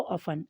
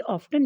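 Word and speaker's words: often: सो ऑफन, अक्सर, ये ऑफ्टन नहीं पढ़ा जाता बेटा, ये ऑफन पढ़ा जाता है। यहाँ पर टी साइलेंट है।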